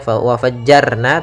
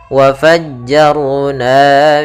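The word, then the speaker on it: وفجرنا: RO di sini tebal Jangan dibaca waajjarna tapi wafajjar Ar wafajjarna fiha Kemudian pada lafal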